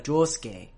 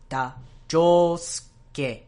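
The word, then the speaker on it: 仗助: shi in Higashikata, and they don't really pronounce the in Josuke. These are whispered vowels, and it tends to happen a lot to shi and tsu and tsu.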